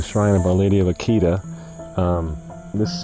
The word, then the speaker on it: Akita: of Our Lady of Akita or Akita as it pronounced in Japanese it's incredibly controversial apparition